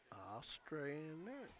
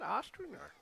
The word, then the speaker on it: Ostrander: How do you pronounce that name? Ostrander. You're right, Ostrander.